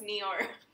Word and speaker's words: Noir: It's called Fogland, a Sonoma Coast Pinot Noir. Noir? Pinot, is that how you say? Yeah? How you say? No, it's Noir. Noir. Is it? It's Noir. It's Noir. Like Dior.